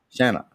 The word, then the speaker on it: Shanna: Shanna. Yeah. Shanna Hannah. It's pronounced exactly like it's spelled. It's Shanna, like Anna with shut up. Shanna Hannah Hosanna. Just like yeah. Like banana.